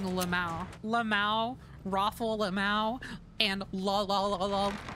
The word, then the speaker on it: LMAO: By the way, how do you guys pronounce LMAO? Because I think you're kind of like supposed to just like say all the letters like that, but I often just find myself saying Lamau.